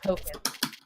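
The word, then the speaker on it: Pokkén: It is technically Pocket Monsters, but it's pronounced Pocket.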